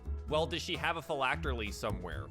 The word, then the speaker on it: phylactery: The eels are probably the phylactery.